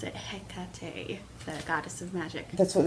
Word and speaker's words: Hecate: in there is not how i pronounce it pronounce it Hecate goddess of magic that's what they say right